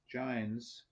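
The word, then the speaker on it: Jains: four the the giants i believe that's pronounced giants reacted to hinduism by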